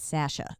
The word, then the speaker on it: Sasha: was like that's wrong sounds like it's a long a but not that long how do you say it Sasha like sash uh okay yeah sorry